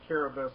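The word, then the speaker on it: Kiribati: of the name of Caribous, it's spelled like Caribati, but their dialect, they only have 14 consonants and vowels in their language. So a lot of the words are sounded out different.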